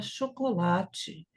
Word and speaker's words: chocolate: Outra palavra que tem um O mudo é a palavra chocolate, que eu já vi horrores de pronúncia, até de alguns colegas falaram chocolate.